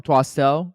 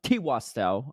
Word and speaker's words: Twastel: First comment is from Twastel. T-Wastel, I should say. Yeah, not Twastel. T-Wastel. I gotta get it right.